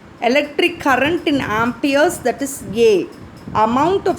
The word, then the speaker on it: ampere: current fd measure convey ampere how do you pronounce it ampere and the how do you what is the